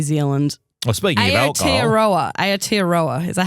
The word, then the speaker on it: Aotearoa: Aotearoa. Is that how you say it? Oh, wow. The way you say New Zealand, that's the Maori way of saying Is it now?